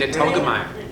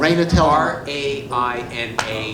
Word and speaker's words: Raina Telgemeier: Raina Telgemeier. How do you spell that? Raina Telgemeier.